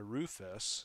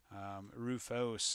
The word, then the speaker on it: Rufus: I always heard it as a Rufus, so Rufos is seems like the more correct pronunciation.